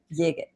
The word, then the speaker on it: Yigit: Well, that's how you remember how to say his last name. Anthony, can you dig it, Yigit?